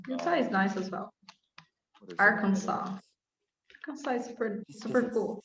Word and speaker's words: Arkansas: well all right um arkansas um you drop the ass the last s yeah i'd have to